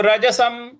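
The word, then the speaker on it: रजसम्: शांत शांत रजसम र ज स के ऊपर जो अनुस्वार है उसका म उच्चारण करेंगे तो रजसम तो उपति शंत रजसम उपति शंत रजसम इस प्रकार से इसको पढ़ना है।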